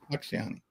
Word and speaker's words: Facciani: gonna talk with Dr Matthew uh is it pronounced fasani fani yeah fani um oh man that must have been a